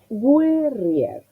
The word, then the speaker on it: guerrier: La sílaba acentuada es rier. ¿Cómo resuelvo el principio? Si me contagio del español, hago mal, porque esa U que nosotros tenemos en castellano como diacrítica, en italiano se dice.